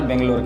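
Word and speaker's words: ಬೆಂಗಳೂರು: के सबसे बड़े शहर बेंगलोर के बारे में जिसे कन्नड़ भाषा में बेंगलुरु भी प्रोनाउंस किया जाता है समुद्र तल से 920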